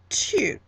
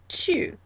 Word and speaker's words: tu: So I'm talking directly to someone, and that is tu, tu.